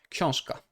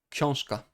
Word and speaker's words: książka: We have K, okay, voiceless. Then we have a voiced before, but it becomes voiceless because it's before a voiceless consonant. Książka, książka. książka.